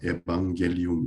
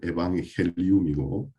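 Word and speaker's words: evangelium: 제가 인터넷에 찾아보니까 한국은 영어식으로 표기법을 적다 보니까 뭐 에방겔리움 이래 놨던데, 이제 이 스페인어가 라틴어에서 왔기 때문에 올바른 발음은 에방헬리움이고, 또 그리스어로는 에왕헬리온 이런 말에서 복음이라는 말이 나왔습니다.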